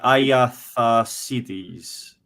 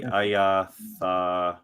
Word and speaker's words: Agatharchides: The CH is a K sound. CH is a K, so that would be Agatharchides. Iatharchides. Oh, yeah. Let's just go with Agatharchides.